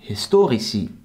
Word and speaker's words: historici: The I or E for kind and historici. Historici is pronounced long since the vowel is on the end of the syllable, as I explained earlier.